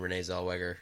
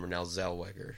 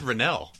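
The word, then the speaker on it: Renée Zellweger: stars Matthew McConaughey and Renee Zellweger. So you didn't even say her name right that time. What did I say? I thought you said Renelle.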